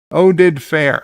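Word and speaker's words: Oded Fehr: Oded Fair. Okay, that's how you pronounce the name.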